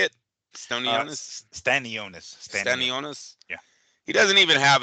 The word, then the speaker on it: Stanionis: Stenianis, is that how you say it? Stony. Stanonus. Stan Stanionis.